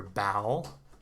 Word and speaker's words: bowel: so reverse order here your bowel bow wow bow ow then on the opposite